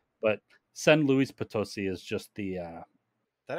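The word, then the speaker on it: San Luis Potosí: trip over it is because I tried to pronounce it like the French way so s Louie but it's s Lis pososi okay and S Luis ptoi is just the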